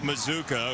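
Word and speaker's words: Mazzccua: here's the offensive line for Baylor with their 31 rushing touchdowns Micah Mazuka whose last name rhymes with bazooka very fittingly considering the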